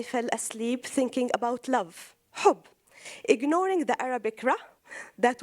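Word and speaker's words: حب: In Arabic, the word love means, it's pronounced HB, hub, and harb, war, it's actually HRB.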